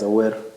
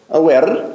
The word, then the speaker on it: Awer: Yeah, it's Awer. Awer, like that. Yeah. So you roll the R.